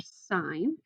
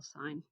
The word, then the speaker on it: sine: and so is for sine it is spelled this way the abbreviation is like s-i-n but please don't call it sin it's still sine and um remember that